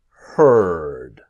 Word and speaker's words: heard: E, A, or D, let's imagine the A disappears and heard. So that or here, heard. I heard you. Okay, not heard. Forget the A's.